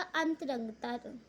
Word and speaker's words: अंतरंगता: तो इसका अंतरंगता है इसका सही प्रोनाउंसिएशन।